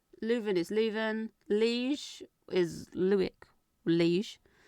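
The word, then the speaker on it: Luik: Lege is Luick.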